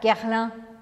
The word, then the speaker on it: Guerlain: Esse final é um som anasalado que você tem que abrir um sorriso para fazer. Guerlain. Guerlain, tá? Não é nada de pronunciar o A e o I separados. Você não vai falar Guerlain, Guerlain, nada disso. É Guerlain com um sorrisão.